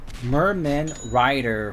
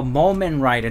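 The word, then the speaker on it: Mumen Rider: Merman Rider for One Punch Man. Is that how you say it? Is it Moment Rider? Oh, Moment Rider, not Merman.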